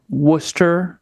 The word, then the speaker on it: Worcester: Yeah, so she grew up in Worcester, Massachusetts. Worcester, for those of you who are not from Worcester, you would probably pronounce it Worcester.